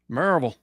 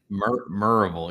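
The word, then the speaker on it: Maryville: of Knoxville in a little town called marville merille yes you got to pronounce it correctly right merille yeah how' you know I grew up in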